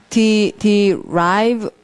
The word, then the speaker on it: derive: 자, 그러면 이제 두 번째 단어는 발음이 derive 이래요. 그 맨 끝에 e라는 스펠링은 앞에 있는 i를 i라고 읽으라고 한다고 어제 말씀을 cope 하면서 말씀드렸습니다.